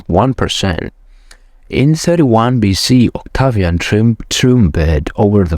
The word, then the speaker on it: Octavian: all real power for himself in 27 BC Octavia and Octavian oh my God it's a Turkish pronouncing okay in 27 BC Octavian assumed the title of Augustus becoming the first